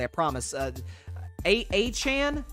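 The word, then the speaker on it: Achane: correctly I promise uh a Chan is how you say his name a chain something like that uh looked great as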